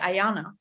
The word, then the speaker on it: Ayanna: like that no absolutely there is am i pronouncing your name correctly ayanna yeah ayanna yeah okay great great to have you on